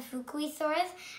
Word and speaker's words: Fukuisaurus: I'm going to tell you how to pronounce it. Fukuisaurus.